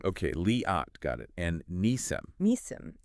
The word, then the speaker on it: Liat: you're truly engaging with the material leat is pronounced leot with the long a sound okay leot got it and Nissim Nim emphasizing the first